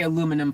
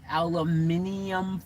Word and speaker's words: aluminium: of you know but we say aluminum foil right that's the technical proper word but in australia they call it aluminium foil they spell it i think it's spelled the same even but they just say it differently they call it aluminium it sounds like something that iron man has built on his armor yo let's reinforce the